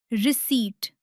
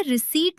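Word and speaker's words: receipt: पी अक्सर एन, एस और टी से पहले साइलेंट होता है। जैसे निमोनिया, साइकोलॉजी और सबसे जरूरी रिसीट। इसे रिसीट नहीं रसीट बोले।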